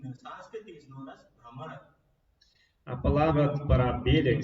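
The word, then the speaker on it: भ्रमर: Brahmara. Ra is used 2 times. So, in the word Brahmara, which means bee, it has got 2 utterances of Ra.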